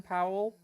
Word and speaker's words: Powell: Powell. Say that one more time. Like howling but with a P.